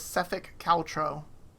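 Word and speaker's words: Sephek Kaltro: headed who are looking for his name is sefik caltro as I mentioned it works for the small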